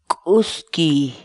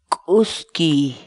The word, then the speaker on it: k'uskiy: de videos en la que te enseñamos a pronunciar algunas palabras en quechua. Así que nuestra palabra del día por hoy es Uski, uski, uski, la palabra quechua.